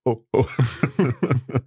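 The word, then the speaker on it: eau: see I'm going so e a and u together are obviously pronounced o I mean it's handy that it's a a word in itself the word for water is o e Au U but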